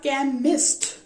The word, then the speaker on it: chemist: हुण देखो वर्ड साडे को आ गया केमिस्ट, केमिस्ट, ठीक है। केमिस्ट किदा लिखिया, CHEMIST, केमिस्ट। हुण केमिस्ट ये जो CH है क दी साउंड नहीं प्रोड्यूस कर रहे,